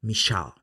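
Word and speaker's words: מישאל: Mi nombre es un nombre hebreo que pasado por el filtro del latín y llevado al español, se escribe Misael. Pero en hebreo se escribe Mishal y se pronuncia Mishal.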